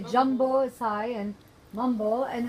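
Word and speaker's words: Jambo: Jumbo.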